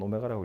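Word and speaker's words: ω: 그래서 요 방정식 이 2차 방정식의 한 허근을 오메가 생긴 건 W지만 오메가라고 읽어요.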